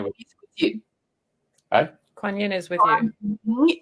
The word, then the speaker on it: Kuan Yin: Kuan Yin, love. Yeah. What's going to happen Kuan there? Yin is with you. Hey? Kuan Yin is with Kuan you.